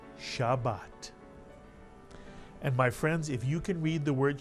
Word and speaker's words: Shabbat: the tough and the word is pronounced shabat and my friends if